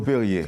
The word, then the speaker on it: Perrier: Perrier s'écrit P-E-2-R-I-E-R. Comme l'eau Perrier.